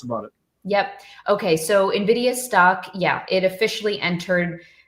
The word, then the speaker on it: Nvidia: say nid I say Nidia there's no I between it's just n and Nvidia okay Nvidia um so it's